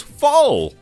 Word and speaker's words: foul: The word foul comes on screen and he goes fall. I don't know. I. We were flabbergasted. We were, because neither of us had played the baseball one, and then it just came up and it's like, oh, foul. He went fall, and we were like, Is that how it's said in American English?